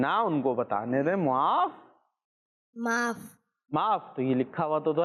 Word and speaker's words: معاف: ایک منٹ نا ان کو بتانے دیں۔ معاف تو یہ لکھا ہوا تو ہے، یہ کیا ہے؟